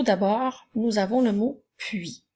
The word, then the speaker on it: puis: nous avons le mot puis n'oublie pas que le s est honnête muette alors nous utilisons le